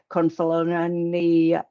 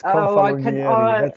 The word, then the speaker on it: Confalonieri: you to, including Alberto Confalonari. I always get Alberto's name wrong. Confalonari. It's a difficult name. It's Confalonieri.